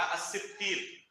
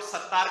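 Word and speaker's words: الستير: مثلا ایک نام ہے اللہ رب العالمین کا الستیر. بہت سارے لوگ ستار کہتے ہیں، کہتے نہیں کہتے ستار؟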